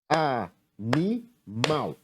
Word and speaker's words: animal: A sílaba na qual a palma apareceu com mais força foi a sílaba mal.